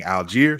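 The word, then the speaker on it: Tyler Algeier: I've heard his name pronounced a few different ways, but in the majority of broadcasts, they're saying Algiere, so that's what I'm going with at this time.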